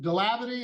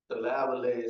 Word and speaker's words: Davlet: Mr. Davity, is that how you pronounce it? Davlet, sir.